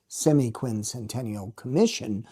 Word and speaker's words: semiquincentennial: circles because it was more ethmologically correct than semiquincentennial.